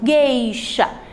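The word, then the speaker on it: gueixa: Vamos lá então, ó, geisha, o U não está sendo pronunciado e ele está acompanhado pela vogal E.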